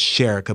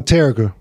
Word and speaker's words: Terica: I want to say her name was Sherika, but I know I'm saying it wrong. Oh, Terica. Terica.